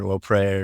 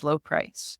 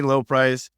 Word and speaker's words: Lobpries: some French in there, Lopre or anything like that. It's been pronounced every which way imaginable. Apparently the B is silent. It's a German thing, but There you go. It is Lobpries.